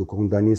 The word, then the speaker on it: condamné: Et je rappelle que condamné, ça s'écrit avec MN, mais on la prononce condamné à 2 ans de prison ferme.